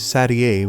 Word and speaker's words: Satie: Some people confuse it with 7, which is not not her number, but the correct pronunciation is Satie, which is not a number at all and sounds much fancier.